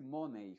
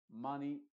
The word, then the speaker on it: money: crear dos vocales diferentes si al final de una palabra aparece la combinación e entonces la y es muda y la e se pronuncia con su sonido original no se va a decir Money Honey alei atorney Chimney